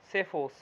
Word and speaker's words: psephos: असल में जो P है वो साइलेंट है, असल में ये है SEPHOS, सेफोस।